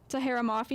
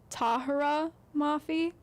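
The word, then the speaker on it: Tahereh Mafi: So, of course, my first choice was Watch Me by Tahira Mafi, and I know that I'm saying her name wrong. It's Tahira Mafi. I learned that when I met her.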